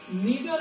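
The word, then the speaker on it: neither: जैसे हम अगर एक एग्जांपल देखते हैं, नीदर ऑफ द two pens. नीदर ऑफ द two pens, नीदर को कह रहे हो, नाइदर भी पढ़ते हैं, वो भी करेक्ट प्रोनाउंसिएशन है.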